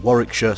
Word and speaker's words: Warwickshire: city was split between three counties those being Warwickshire Staffordshire and Worcestershire and yes for any Americans watching that is how you pronounce those place names anyways this three-way split